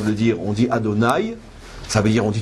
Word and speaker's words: Adonai: j'ai le droit de le dire, on dit Adonai.